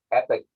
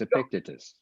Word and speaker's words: Epictetus: A Stoic by the name of I'm going to mispronounce. I always mispronunciate my Greek. So Epictetus. I can help there, Mark. It's Epictetus.